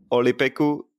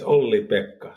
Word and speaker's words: Ollipekka: the first awkward moment of me trying to pronounce correctly your Finnish name. Is it Ollipekku? No. Try it yourself. I can do it, yes. It's Ollipekka.